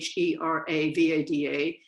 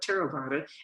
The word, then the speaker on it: Theravada: everybody gets it it's spelled v a d t-h-e-r-a-v-a-d-a and it's pronounced t not theravada but terobata and that's the tradition that our practice stems